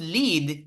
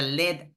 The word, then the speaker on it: lead: It's he could lead if he would get the lead out. Here we don't say lead, but we say lead because it's a chemical product.